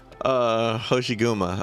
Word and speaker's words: Hoshiguma: Hoshiguma.